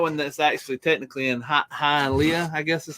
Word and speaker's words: Hialeah: there's that one that's actually technically in Hialeah, I guess is how you say it, down in Florida.